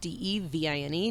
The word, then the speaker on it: Devine: so two ways and divine is d-e like elephant d-e-v-i-n-e not divine like the big guy upstairs um and please don't